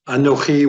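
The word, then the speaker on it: אנכי: Ah-no-KHEE would be the long way of saying it. Ah-NEE is the short way saying it.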